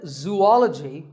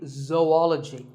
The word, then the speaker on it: zoology: do you say it if you said zoology it's actually wrong that is a very common mispronunciation this is actually zoology though and ecology zoology number